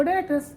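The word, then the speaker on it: debtors: डी ई बी टी ओ आर एस डेटर्स। लेकिन पढ़ते हैं इसको डेटर्स। क्योंकि बी इसमें क्या रहता है? साइलेंट। डेप्टस नहीं कहते इसको। क्या कहते हैं? डेटर्स।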